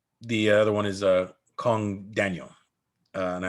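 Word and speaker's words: Kang: other one is uh kong daniel and i like his second name obviously and his first name kong is pretty awesome spelled k-a-n-g but pronounced kong uh he is a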